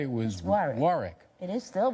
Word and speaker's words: Warwick: your name wrong yeah he he dropped an r and put a w in his place and so I became a wick instead of a Rick and you and you